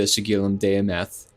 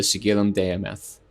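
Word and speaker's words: Sigillum Dei Aemeth: So this invocation is used ritually often with tools like the sigilum demth. And that is I'll spell that for you guys.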